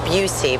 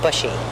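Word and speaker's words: Buhse: the most important is Patrick Busey but it's spelled b-u-h-s-e so a lot of people call him bushy and Edward D Simone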